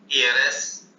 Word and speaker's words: heir: हैं, our, honour, एयर, एयरएस, honest, HONEST, honest भी आप लिख लें, HONEST। तो ये स्पेलिंग एच से शुरू हो रही है, लेकिन इनका प्रोनाउंसिएशन वाउल साउंड से शुरू होता है।